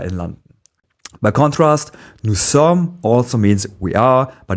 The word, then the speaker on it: sommes: As you know, nous sommes means we are, and the final s in sommes is silent.